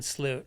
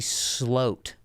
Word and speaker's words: Sloot: you about Valentine Sloot. Okay. So, you said his last name too. Do you want to know something? It's actually Sloat. That's how they pronounce it in Amsterdam.